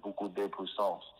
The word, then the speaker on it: beaucoup de puissance: The proper way to say it in French is beaucoup de puissance.